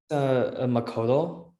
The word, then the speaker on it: Makoto: Kind of how Makoto, sorry, I hope I pronounced it right. Makoto was talking about the domain. How to say it again? Makoto.